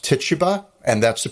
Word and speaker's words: Tituba: And he brings with him an enslaved person, and her name is Tituba, but it's commonly pronounced Tituba, and that's the pronunciation I'm going to use.